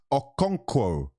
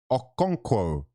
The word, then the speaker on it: Okonkwo: Have a look at how his name's spelt. There's no W after the K. Cheers. People are trying to give me fucking pronunciation lessons when I can read. Okay? It's Okonkwo. Okonkwo.